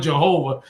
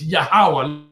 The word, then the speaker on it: Yahweh: They're using that word Jehovah. That's not his name, yo. It ain't Jehovah, and it's not Jehovah. It's Yahweh. Learn how to say it.